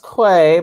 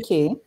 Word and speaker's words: Quay: key sunglasses and uh i think some people think they're pronounced clay but it's actually key so i do have